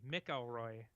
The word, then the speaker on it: McElroy: a there it's MC McElroy yeah but if MC comes before a vowel it's pronounced Mac what like McAvoy McElroy